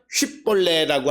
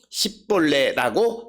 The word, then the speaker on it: 쉿볼레: 즉 오늘 주시는 본문의 에브라임 사람들은 SH 즉 쉬라고 하는 발음을 하지 못하는 거예요. 쉰 발음을 못하고 그것을 사맥 S 발음으로 하는 거예요. SH 발음을 S 발음으로 하는 거예요. 그래서 쉿볼레라고 하는 것을 발음하지 못하고